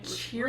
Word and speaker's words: cheery: Did I not pronounce the double E? There's no double R's. There's a double E in that one. Got it. I agree with that. Cheery, not cherry.